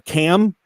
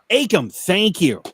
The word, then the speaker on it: Akam: And I hope I'm pronouncing his first name right. Akam or Cam? Akam.